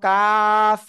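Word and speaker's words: ق: টেনে পড়বো আমরা ওকে কোন জায়গা থেকে উচ্চারণ হবে জিহ্বার গোড়ার থেকে জিহ্বার গোড়া থেকে একটু আগে বাড়িয়া তার বরাবর উপরের তালুর সাথে লাগিয়ে মধ্যখান পেঁচানো কাফ চিকুন আওয়াজে চার আলিফ টানে উচ্চারণ হবে এবং শেষে হালকা বাতাস বের হবে কাফ ক্লিয়ার সবাই আমি আশা করি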